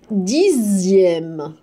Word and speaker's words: dixième: Et dixième. Dixième. D'accord? Donc, jusqu'à présent, les enfants, la lettre X peut se prononcer X, X, ou bien juste Z.